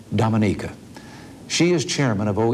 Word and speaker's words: Dominica: minister Eugenia Charles of Dominica I call that wrong she pronounces it Dominica she is Chairman of